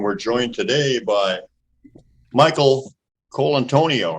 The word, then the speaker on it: Colontonio: bean show and we're joined today by Michael Cole Antonio right yeah is that how you pronounce it yeah yeah awesome man that sounds